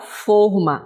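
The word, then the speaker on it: fôrma: ele a gente fala forma, né, com a pronúncia fechada, o acento tônico fechado.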